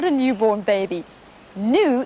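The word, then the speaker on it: gnu: not a newborn baby new in fact is spelled g n u and it's a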